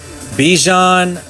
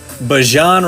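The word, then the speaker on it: Bijan: the Craig and the Craig with the Chargers, Bejan, Bjan Robinson, we got to say it right.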